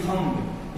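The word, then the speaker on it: thumb: एच यू एम बी थम इसको क्या पढ़ेंगे अब देखिए एम के बाद बी आ गया एम के बाद बी आ गया साइलेंट हो गया तो थम नहीं थम पढ़ेंगे इसका मतलब होता है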